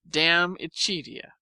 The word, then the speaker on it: De Amicitia: We've finished Livy and De Senectute, and are now engaged with De Amicitia, pronounced Damicitia.